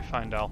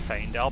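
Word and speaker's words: Faendal: Out of the way, Findel. It may be pronounced Feindel, but it's A-E, which in Latin is an I sound, so I'm just going with that.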